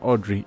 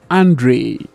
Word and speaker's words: Andre: wrong i'm so sorry it's not audrey it's andre my apologies andre how